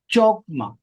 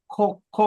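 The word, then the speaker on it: חכמה: word ആയിട്ട് വരുന്നത് ചോക്മ ഇതിന് ഇത് പ്രൊനൗൺസ് ചെയ്യുമ്പോൾ കോക്കോ എന്നാ ഉപയോഗിക്കുന്നത് കെ എച്ച് ഓ എന്ന് നമ്മൾ ഉച്ചരിച്ചാൽ അങ്ങനെ ഇരിക്കും അതാണ് ഉച്ചാരണം ഇവിടെ എഴുതിയിരിക്കുമ്പോൾ എഴുതിയിരിക്കുന്നത് പോലെ വായിച്ചാൽ ചോക്മ എന്നാ വായിക്കുന്നത് പക്ഷേ അതിന്റെ ഉച്ചാരണം കെ യിൽ തുടങ്ങണം കെ എച്ച് ഓ കെ അത് അവിടെ തുടങ്ങണം കോമ എന്ന് പറഞ്ഞാൽ വിസ്ഡം അല്ലെങ്കിൽ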